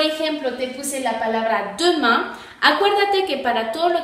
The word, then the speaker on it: demain: Entonces, demain se pronuncia demain. Y entonces es A, como lo acabamos de decir.